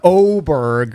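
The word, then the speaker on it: Åberg: Even though his name starts with an A, it's pronounced Oberg with his uh international player.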